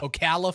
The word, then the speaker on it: Ocala: Is that how you pronounce Okala? Okala, Florida.